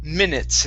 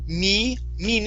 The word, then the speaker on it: minutes: this this word here this is minutes instead of me mean it's give me a short i minutes i knew i